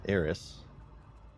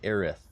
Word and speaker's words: Aerith: You have the sane people who say Eris, because that's how it's spelled, and you have people who say Aerith, like they have a lisp.